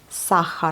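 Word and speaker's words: сахар: Sahar. Vous voyez, on prononce bien le H.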